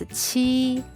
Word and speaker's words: 七: The number seven is (qi1) 七， here “q” is pronounced the same as “ch” in Spanish, but don't write “ch” please, with the first tone it is pronounced (qi1) 七, the character looks like